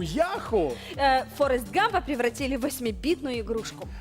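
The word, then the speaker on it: Yahoo: як вона завжди оголоситься яку насправді Яху ну запам'ятаю наголос на першу літеру на Я на Я ну Давай розповідай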